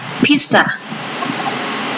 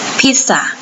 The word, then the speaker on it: pizza: ว่า พิซซ่า นะ คะ แต่ ภาษา อังกฤษ ให้ เรา เน้น หนัก ที่ พยางค์ แรก นะ คะ ตัว นี้